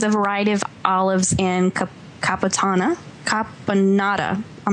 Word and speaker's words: caponata: variety of olives and caponata. I'm not saying it right, you guys. Help me out. Caponata. Say with an Italian accent, it sounds better.